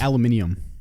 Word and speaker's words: aluminium: ] what it is it's aluminium aluminum i'm just coming from australia that's how they say it oh it could be